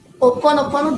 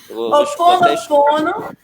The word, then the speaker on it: Ho'oponopono: Como é a pronúncia desse título que está em Insetos? Ho'oponopono Bang. Bang de Big Bang. E Ho'oponopono é uma... Peraí. Fala de novo, pelo amor de Deus. Ho'oponopono.